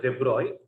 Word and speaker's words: de Broglie: Actually, it is pronounced as de Broglie.